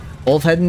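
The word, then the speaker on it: Ulfheðinn: Ulfheden is how you'd pronounce it, trying to explain it to an English speaker.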